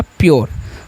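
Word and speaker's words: pure: यानी कि यू आर ई को योर पढ़ना है। और उससे पहले जो भी लेटर रहेगा उसको आधा कर देना है। तो हो गया प्योर।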